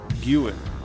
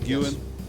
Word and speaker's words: Guin: for From The Trenches of wonderlust by S Guan that's how you pronounce it Guan perfect okay awesome on your feet suif very